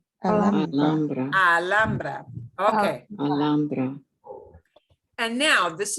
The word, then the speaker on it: Alhambra: And we pronounce, you'll hear this as Alhambra, or people who live in California near this town with the same name. It is not Alhambra, it is Alhambra. Alhambra.